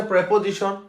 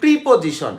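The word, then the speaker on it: preposition: যেটাকে আমরা বলি, ঠিক আছে সেটা, অথবা হচ্ছে প্রেপোজিশন, আমরা বলি প্রিপোজিশন, এটা হচ্ছে কবিরা গুণা, এগুলো ভুল উচ্চারণ, এগুলোকে বলা প্রেপোজিশন, উচ্চারণ কি প্রেপোজিশন, প্রেপোজিশন, ঠিক আছে প্রেপোজিশন।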